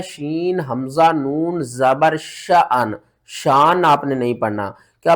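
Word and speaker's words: شأن: आगे देखें, यहाँ पर बहुत से लोग इसको पढ़ते हैं शान। तो सही पढ़ने का तरीका क्या है? सूरत रहमान की आयत नंबर देखें 29 में, हुआ फी शअन।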